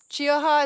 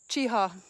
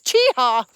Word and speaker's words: Chiaha: find just Jess and she told me chiaha is pronounced chiha I've been saying it wrong guys I found how I found out how to say it it's chiha even though there's a c h e a h a it's chiha anyway it's